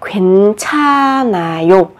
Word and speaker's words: 괜찮아요: Ở đây chúng ta sẽ phát âm là 괜찮아요. Ở đây bắt chim kép nhưng mà âm h được coi là âm câm.